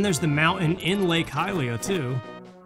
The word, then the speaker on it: Hylia: I know there's an official pronunciation, but you think Hylian, so it would be Hylia, right? Or Hylia? Hylia, yeah. See, that's the thing, I always said Lake Hylia as a kid. God, I'm adding all these syllables there that don't need to be there. And then I know people who said Helio, but that's definitely wrong. It has to be wrong.